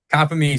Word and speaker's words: Compomizzi: I don't want to butcher this Gavin Copy.